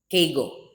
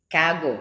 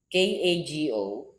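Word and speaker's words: κἀγώ: Kego. Kago. Sorry. K A G O So Kago with a dash above the letter O the pronunciation is K A H then G O H upper case so I'm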